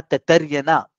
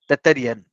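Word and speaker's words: तैत्तिरीय: होगा, उनको कहा गया तैत्तरीय ना। आप जब देखेंगे ना तैत्तरीय, TAITTARAYAN, तैत्तरीयन, तैत्तरीयन ऐसा करके आप प्रोनाउंस कर सकते हैं।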